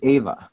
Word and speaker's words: Ava: It's not Eva, it's Ava.